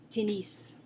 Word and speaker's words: tennis: I would think English, but it's tennis. Tennis. So that's the game of tennis, or, for example, tennis shoes. You do pronounce the S there, tennis.